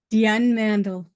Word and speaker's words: Diane Mandle: I have with me Dion mandal mandal Deon mandal how do you say your name Dion mandle thank you she says it the French way so thank you so